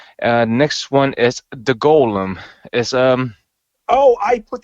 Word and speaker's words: Golem: next one is the Golem is um oh I put that on my Hulu I haven't had a chance to watch that I believe it's pronounced Gollum this is the one where